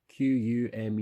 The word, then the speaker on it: Kumu: Kumu I believe that so it's pronounced Q um you know I'm gonna